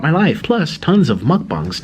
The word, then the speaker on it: mukbang: I hate I hate that he like had a special pronunciation. Mukbang.